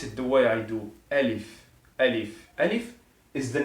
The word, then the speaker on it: Alif: beginner for Arabic, and it's pronounced this way, Alif, Alif, the name of the letter, and it's we can consider it as A in English.